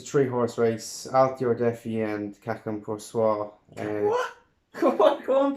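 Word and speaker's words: Chacun Pour Soi: Chacum. I studied French. It's Cacum Poursois. Shock. It's not English. You don't pronounce the CH like chip.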